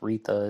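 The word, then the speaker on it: Retha: us from rita blair i think i pronounced rita it's r-e-t-h-a and rita writes why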